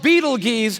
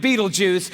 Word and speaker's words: Betelgeuse: It's called Betelgeuse or Betelgeuse. You can pick your pronunciation. I'm obviously going with Betelgeuse, and Betelgeuse is incredible.